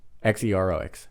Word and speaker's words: Xerox: or something like that it's it's spelled x-e-r-o-x Xerox but it's pronounced Xerox the first letter is an X